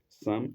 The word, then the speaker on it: Psalm: And sum of life is spelled sum is spelled capital p s a l m. capital p s a l m. It's like the book of psalms.